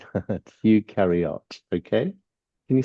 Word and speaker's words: eukaryote: Eukaryote. Okay. You say it like this. Um, You carry out.